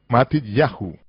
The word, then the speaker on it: Matityahu: En hebreo, los nombres tales como Mateo, que en realidad es Matityahu, con el acento en Yah, como es el caso en todos los nombres hebreos.